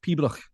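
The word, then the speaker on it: piobaireachd: First thing in the morning, I went to watch Peebrach.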